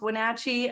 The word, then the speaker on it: Wenatchee: there on purpose okay wonderful yes it is pronounced Wenatchee uh but don't worry about that it really